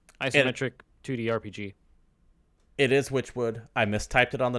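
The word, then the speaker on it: Wytchwood: I pronounce this as Witchwood. Oh, okay. I think I just I mistyped it. Witchwood with a Y. W-Y.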